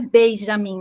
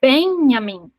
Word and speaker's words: Benjamim: um nome de Benjamim que na verdade não é Benjamim né É benam porque não se pronuncia o J Ben filho e a